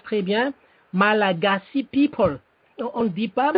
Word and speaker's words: Malagasy: En anglais, ça se prononce très bien, Malagasy people. On ne dit pas malgache.